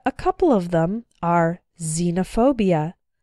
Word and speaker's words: xenophobia: girlfriend ex-husband or ex-wife when X starts a word then it's pronounced like Z there are very few of these words in English but a couple of them are xenophobia xylophone and Xerox xenophobia means fear of strangers